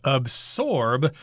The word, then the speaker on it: absorb: says this is pronounced absorb but I tend to make a z sound in there and I think a